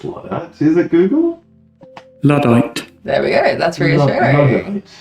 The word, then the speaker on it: Luddite: If you want clues in how to pronounce things, looking at the spelling. I'm pretty sure it's Luddite. Is it Google? Luddite.